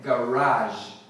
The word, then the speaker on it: garage: Então é o seguinte, a gente pode variar a sílaba tônica, que é a ênfase, né, a sílaba mais forte, pode ser o G ou pode ser o Ra, e esse J no final pode ser J ou J. J ou J. Então, a pronúncia mais falada, a número 1 dessa palavra é garage. Garage. Como se fosse um francês falando garage.